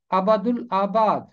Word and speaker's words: ابد الآباد: غلط پڑھا جاتا ہے، اس کا درست تلفظ ہے ابد الآباد، ابد الآباد، ابد الآباد۔